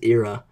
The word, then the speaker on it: Ira: so the first girl her name is era and um it's spelled Ira by the way it's not like it's not like an ear um so she wasn't